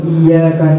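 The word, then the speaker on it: إِيَّاكَ: ليس إياك خطأ، Dibaca huruf kaf bukan huruf kha, karena kalau kita bacanya dengan huruf فتقراها بالطريقة الصحيحة إياك نعبد وإياك نستعين. Karena bacaan yang benar itu yaitu Iyyaka na'budu wa iyyaka nasta'in.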